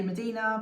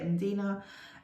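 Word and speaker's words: Mdina: paperweight this one is medina or as i used to say medina but then someone told me how to say it and dina and it's from malta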